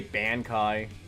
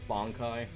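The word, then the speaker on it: Bankai: Like they say bana kai instead of bongai.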